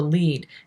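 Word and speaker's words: lede: writers in print journalism writers start with the lead and yes it is spelled l-e-d-e you can look up the reason why it's historical it's interesting if you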